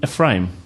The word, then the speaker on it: Ephraim: Ephraim. I'll try my best, no pressure. First of all, did I pronounce the surname right? Ephraim, yeah.